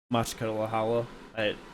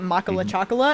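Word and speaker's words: Makhachkala: It's Machkalahala. The thing is the first time I ever saw it, you called it Makala Chakala, and that's the only thing I can ever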